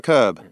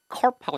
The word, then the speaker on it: curb: 자, 여러분 요 발음을 주의하셔야 돼요. 여러분 이렇게 곡선이나 휘어진 길인 경우에는 curve로 되게 길어요, 발음이. curve. 얘는 curve하고 딱 떨어집니다. 다시 들어보세요, 여러분. B. Bicycles are parked near a curb. B. Bicycles are parked near a curb. 네, curve, 예, curve가 아니죠.